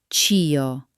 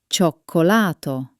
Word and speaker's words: cioccolato: See? Not chi o, but cioccolato.